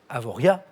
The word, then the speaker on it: Avoriaz: désignés par un dos dont on ne prononce pas le z final avoriaz bien joué quatre points